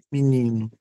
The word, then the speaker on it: menino: na pronúncia é mi, mi menino, menino.